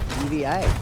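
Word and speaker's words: D.Va: Just a quick shout out to Jam Pulse, who thinks that Diva should actually be pronounced DVA. Oh, Matt Flacker said that first weekend, but got trade. So who knows? There's multiple ways of saying it now.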